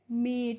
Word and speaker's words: MEAT: और MEAT होता है, तो इसको भी हम क्या पढ़ते हैं, मीट। यानी कि MEET और MEAT दोनों का ही प्रोनाउंसिएशन क्या होता है, मीट होता है।